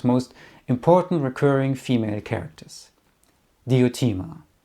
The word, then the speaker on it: Diotima: And Suzette even became the inspiration for one of his most important recurring female characters, Diotima, or Diotima, as she is sometimes pronounced.